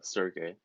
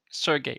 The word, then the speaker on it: Sergey: was trying to put Sergey. Is that the right way to pronounce it? Yeah, close. It's Sergey. Sergey.